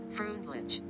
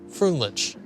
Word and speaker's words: Freundlich: Freundlich? Sorry, I gotta look this up. Y'all are gonna destroy me. Freundlich. Erwin Finlay. Freundlich.